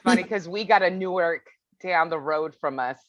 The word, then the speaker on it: Newark: to newark delaware but i used to say new york and they're like that's not how you say it here yeah they say it differently that's funny because we got a newark down the road from